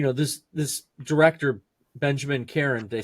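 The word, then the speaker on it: Caron: anything but you know this this director Benjamin Karen did I say his name right yes you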